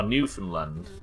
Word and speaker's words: Newfoundland: The new is pronounced like land. Oh, Newfoundland.